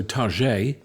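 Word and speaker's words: Targé: Chateau Target, as it should be pronounced, next to Saumur, and they're forcing us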